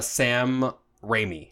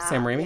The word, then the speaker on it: Sam Raimi: up we turned that sprayed off it's a Sam Raimi is how you say his name Sam Raimi yeah yeah so he's directing this so like